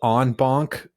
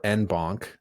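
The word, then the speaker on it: en banc: So it can be pronounced onbon or enbon for American pronunciation or inbon for uh British on the bench.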